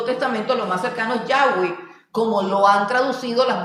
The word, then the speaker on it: Yahweh: en el Antiguo Testamento, lo más cercano es Yahweh, como lo han traducido las Biblias católicas.